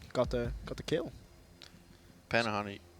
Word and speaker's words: Pannuhuone: Panahon, how do you say their name? They told us that it's Panahon. Pan Panahon. Panone.